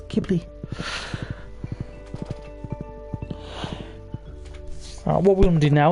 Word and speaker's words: Ghibli: most people pronounce it jubilee it's just a silent h it's kibbly what we're gonna do